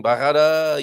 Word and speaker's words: Barrada: Barrada, yes, indeed. Roll your R when you go through Barrada.